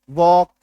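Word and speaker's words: walk: एल के के से पहले एल है काट दो वाईओ एल के काट दो बी ए एल के काट दो ठीक है अब पढ़ो इसको डब्लू ए के वॉक टी के टॉक सी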